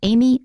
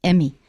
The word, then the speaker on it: Amy: of these two names both of them contain an e and in taiwan people often pronounce them as e incorrectly instead of saying amy i hear people saying emmy or even amy but usually it's emmy and emmy is a completely different name emmy is spelled e-m-m-y